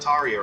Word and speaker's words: Tarja: And for those of you that aren't sure why I'm pronouncing it like that, I mean, those of you who are from the kind of northern parts of Europe where she hails from will understand. But keep in mind, the J in her name, which I should explain, her name is spelled Tarja.